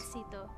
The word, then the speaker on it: éxito: I'm gonna say exito, but do you pronounce this? Éxito.